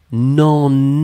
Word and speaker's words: n'en: Faites attention parce que ça, la difficulté fondamentale, c'est les nasales. C'est-à-dire que beaucoup d'entre vous, vous avez entendu non. Mais en fait, c'était non. Et c'est vraiment la seule différence, ça va être la nasale. C'est pas on, mais c'est en. Et comme c'est en, eh bien finalement, ça veut dire que c'est le pronom en avec la négation ne et le e qui disparaît.